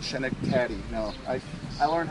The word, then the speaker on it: Schenectady: York, and they corrected me when I said Schenectady.